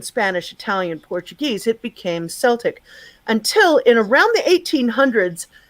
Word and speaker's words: Celtic: uh 1900s and whatnot saying celtic was no you say celtic and um and here's